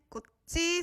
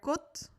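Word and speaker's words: 꽃: Very important to remember that when you are pronouncing it just like that, it sounds more like a T, so kot. And then when you had a vowel after that, it sounds more like a T again. So it's kochi, kochi, but just kot with a T.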